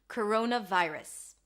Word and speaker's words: coronavirus: We have a schwa here, if you can hear, vi, I as in my, and then rus. Round your lips for the R, a schwa sound, and an S. Coronavirus.